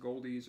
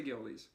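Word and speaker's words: Goeldi's: It could be pronounced Goldies or something. I couldn't find that. So I'm going to say Geldes.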